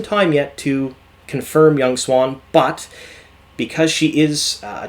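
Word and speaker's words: Siuan: chansa she is playing young soon now sorry young swan again i mispronounce things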